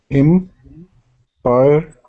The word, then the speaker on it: empire: So I think the emphasis is on the first one, im. Uh-huh. And how many syllables? I think 3. So say it and count. How many syllables? Empire, I think 2. 2. Yeah, it's 2. 2, yeah. Empire. Okay.